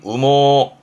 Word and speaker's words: 羽毛: 발음은 우모 우모 해서 음으로는 우갑니다.